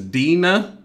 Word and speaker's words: Deana: here okay so her name is dina so all right so clearly i said her name wrong so when this goes